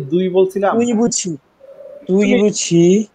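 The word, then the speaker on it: 对不起: দুই বলছিলাম তুই বুঝি তুই বুঝি তুই প্রোনাউন্সিয়েশনটা এরকম হবে তুই বুঝি তুই তুই তুই বুঝি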